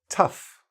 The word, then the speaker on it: tough: or a ugh okay let's start with F Oh tough rough enough so even though it's